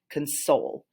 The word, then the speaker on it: console: would pronounce it as console so you put that emphasis on the second half of the word that's where your syllable